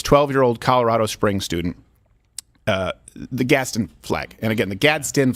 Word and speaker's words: Gadsden: But I'll sometimes say Gadsden, sometimes I'll say Gadsden, but I know it's Gadsden flag.